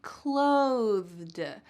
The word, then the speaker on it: clothed: But for the second word, take a look at where my tongue is placed. Clothed, clothed. When I say that TH, my tongue is going to come out of my mouth just a bit.